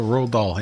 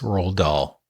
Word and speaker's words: Roald Dahl: So Roald Dahl, yeah.